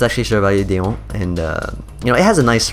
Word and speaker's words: Chevalier d'Eon: So we pronounce it Chevalier d'Eon. So that's how we say it. I don't know, in English you guys might call her like Chevalier Dion or something like that, or Dion or something.